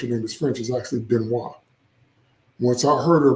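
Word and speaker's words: Benoist: And no, her name is not Benoy. That's how Americans say it. Her name, she's French. Her name is French. Is actually Benois.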